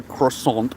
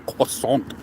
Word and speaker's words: croissant: also have the Quant cuz you have to say it properly otherwise French people want to crucify you so it's not a croissant it's a cant hey yes all right